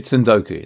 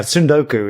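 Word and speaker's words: 積ん読: Can you talk us through Tundoku then? Is that pronounced right for first of all, do you know what? I I'm not a native Japanese speaker, so so I'm I'm probably with you on this, but yeah, Sundoku is is how I would pronounce it.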